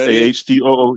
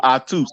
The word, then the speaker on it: Atu: Your name is Atu. Pronounced AHTOO. Yep. Pronounced AHTOO. Oh, so like the Das Effect song, like Octu Spit? That No. See, you said it wrong. Atus. You say Atus. It's no Atus.